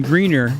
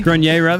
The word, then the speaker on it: Grenier: like the full on and you got adrian greener if i'm saying it right entourage adrian grenier grenier that's right he's got a unibrow too really